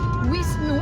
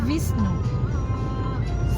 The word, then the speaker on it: Wisnu: Wisnu sebenarnya Visnu. Siwa aja Siva kan. Ya, Siva. Visnu, Siva, Brahma. Kalau Jawa Siwa. Ya. Karena sudah ejaan Indonesia, ejaan Jawa menjadi Siwa.